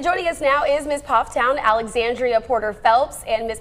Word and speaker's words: Pfafftown: Two sisters right here in the triad are the first ever Miss Pfafftown. I mispronounced that at the beginning. Oh, Miss Pfafftown.